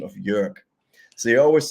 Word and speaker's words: Jörg: So my brother has this Russian colleague, and he cannot say the correct pronunciation of Jörg. So he always say York.